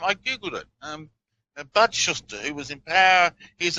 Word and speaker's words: Shuster: huster is that the name you're saying yes Shuster yes s h u s t r is how it's spelled so he's a congressman now you think